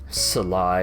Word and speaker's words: Sly: next we have sly sly it's not two syllables sly yes we have sly